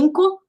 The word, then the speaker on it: Anchor: Na pronúncia dele é Anchor, que ele falou lá no vídeo dele, e ele falou de